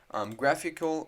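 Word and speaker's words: GraphiQL: graphql which i'll explain what this means basically graphical which is how you say this it's just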